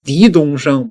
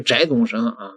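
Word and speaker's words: 翟东升: 个字儿呢就是念狄那位说那不是念翟吗？而且这个翟是另外一个这个读音，人家自己说我们家姓狄，那你就得念狄是狄东升，不是翟东升各位。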